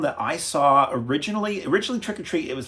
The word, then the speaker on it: Trick 'r Treat: 2007's trick or treat some people call it Trick r Treat because that's how it's spelled not to be confused with trick or treats from the80s or trick or treat from the80s this is